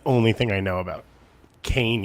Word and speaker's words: Kean: thing I know about Kane University not Kean dude just getting the